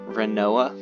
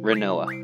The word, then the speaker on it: Rinoa: yeah my name's I want to say her name is pronounced rinoa because I never actually learned how to pronounce her name because I used to pronounce it right like as in wit like a rhinoceros rhino ax but there's no H so I'm gonna say we're in Noah all right that's how